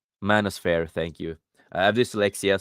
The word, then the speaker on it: manosphere: Manosphere. Manosphere. Manosphere. Thank you. I have dyslexia, so sometimes I can't pronounce all the words.